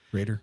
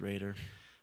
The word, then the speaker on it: Roeder: at my name Raider yeah Raider last name is spelled r-o-e-d-e-r spelled like rotor pronounced Raider but yeah you'll just